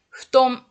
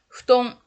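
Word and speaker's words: 布団: Il n'y a pas de prononciation F en japonais.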